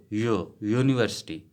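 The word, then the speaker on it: university: ठीक है, क्योंकि ये यू जो है ये वावल की साउंड नहीं निकालता, यो यूनिवर्सिटी, यो यूनिवर्सिटी।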